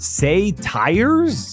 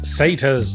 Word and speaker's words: satyrs: jar it's pronounced Anar say tires it's satas okay I think I